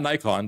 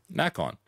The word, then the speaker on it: Nacon: knock on right yeah not not nikon that's knack on so they i mean